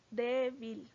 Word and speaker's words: débil: una palabra aguda débil débil es una palabra que tiene el acento en la penúltima sílaba o en la segunda